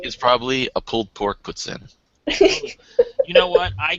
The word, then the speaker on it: poutine: that's because they're pronouncing it wrong look it puts in is the proper pronunciation it is the actual it's a French